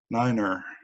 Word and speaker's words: niner: flow Walter yeah okay what is the radio pronounciation for the Arabic numeral nine dawn you win you got it Niner neener okay I think we're just gonna call that close enough and move on question number